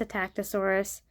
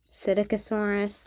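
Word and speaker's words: Psittacosaurus: how you pronounce it there's all sorts of way to pronounce it I've even heard Sato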